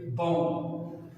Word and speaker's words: bomb: after M, it is that B is silent, that B is not pronounced. Okay, bomb.